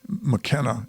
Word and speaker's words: McKenna: night when Mary Kenna, it's spelled Kenna, K-E-N-N-A here, but I looked it up and it's actually McKenna, M-C, capital K-E-N-N-A.